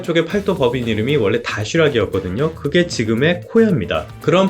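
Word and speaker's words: Доширак: 가보신 분들은 알 텐데요 러시아에서는 다쉬락이라고 많이 발음들을 하더라고요 이게 8도에서 만드는 도시락 컵라면을 말하는 건데요 러시아 쪽에서는 다쉬락 그 컵라면으로 고유 명사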